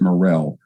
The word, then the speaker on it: Murrell: him alone was john murrell or some people pronounce it morrell he was the most